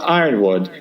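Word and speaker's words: Yronwode: "First, Cat is a woman, and second, it's pronounced Ironwood, and third, she did indeed work for the Comics Journal."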